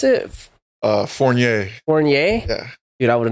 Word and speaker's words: Fournier: bro your your last name how do you pronounce it uh forier forier yeah dude I would have never I